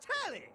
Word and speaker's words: Telly: Before we get to what's on my screen, the name's Tally. Rhymes with Nelly. Like, whoa, Nelly.